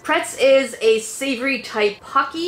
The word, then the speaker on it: Pocky: Pretz is a savory type pocky. It's actually pronounced pokki in Japan. In Japan, it's pokki.